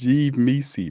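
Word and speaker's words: Yves Missi: It's one of them things where Mises rhyme with Reese's. Is that what's going on here? If that's what you like, that's what you into, bro. It's Yves Mises, bro, not Mises.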